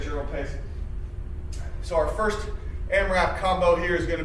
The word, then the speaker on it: AMRAP: combo so our amrap means that's short for am r ap we pronounce that amrap as many rounds as possible